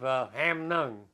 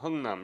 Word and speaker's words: Hungnam: We loaded on ship on December the 12th of Hamnung. Mm-hmm. I believe I'm pronouncing it right. Hungnam, yes.